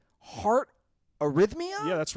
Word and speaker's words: arrhythmia: Now, is it pronounced heart arrhythmia?